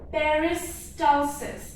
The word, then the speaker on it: peristalsis: So your food moves through the GI tract by a process called peristalsis. So if you don't remember the pronunciation, you can remember like this. Peris, okay, peris, then tal, then cis. Peristalsis. So food moves through the